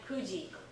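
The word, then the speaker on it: 九時: Kuji. Remember that special pronunciation, Kuji.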